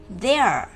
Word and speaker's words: their: Their. Thế lưỡi đúng không các em?